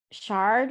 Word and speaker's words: Sheard: It's Sheard. Shard, Yeah, I probably.